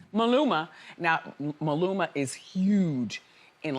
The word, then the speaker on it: Maluma: How do you pronounce his name? Maluma. Maluma.